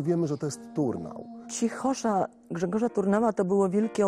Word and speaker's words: cichosza: Ważny jest akcent, nie cichosza, tylko cichosza. Tak wyszło z rytmiki tej melodii.